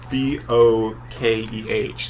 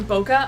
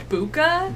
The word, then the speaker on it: bokeh: It is and I have bouquet, no trust. as in bouquet of flowers. Okay. But it's spelled B-O-K-E-H, so I think a lot of people call it bokeh just because it's a phonetic. I've heard boka, I've heard buka. Buka. That was a new one.